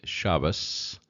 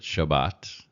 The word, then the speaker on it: Shabbat: And again, Ashkenazic would say Shabbos with an S on the end, but Shabbat. And then we have Av, which was father.